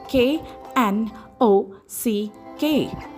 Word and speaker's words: knock: Second word we have is knock spelled as K N O C K. But when we pronounce it we get is N O C K knock.